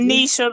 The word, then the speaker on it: Nisha: Now, how do you pronounce her name? Nisha or Anesa? Um, Nisha. Lady Nisha.